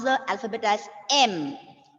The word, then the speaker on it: M: For all this, I have heard some children pronouncing it as yem, yen, yes. So, Ma'am, like Y is coming. The pronunciation. Yes. Pronunciation. Pronunciation, it is just M.